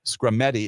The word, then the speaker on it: Skrmetti: And yes, indeed, that case, Scrametti is the name of the case. It is coming up for oral argument this coming Wednesday. The case is spelled Skrmetti, a case scheduled for